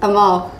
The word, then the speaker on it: Amal: Amal. A what? So it's like Jamal without the J.